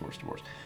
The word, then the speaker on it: hors d'oeuvres: divorce yeah it's pronounced worst divorce that's a French word you should be able to say without a problem but look at that word yeah hors d'oeuvres which is another thing